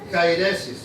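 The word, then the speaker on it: αἵρεσις: prescribe en griego y se pronuncia cairesis sí que viene a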